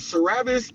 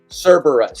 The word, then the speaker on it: Cerberus: yeah and cabis uh I keep saying it wrong it's cus Cerberus cus Cerberus cus I had time with I had trouble with it too because it just looks and it's all cap so it's Cerberus Cerberus I assume that